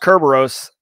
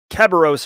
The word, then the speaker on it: Kerberos: local key distribution center KDC for Kerberos it's pronounced Kerberos um so don't don't say keos or whatever he was saying in a um